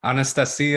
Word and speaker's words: Anastasia: not then please correct Anastasia yeah I mean Anastasia is the way you say it in Russian but we're Americans so we just do things I mean if you want to stay Anastasia but it's it's Anastasia